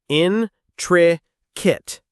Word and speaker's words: intricate: Intricate. The stress is on the first syllable. The word ends with a kip sound, not kate.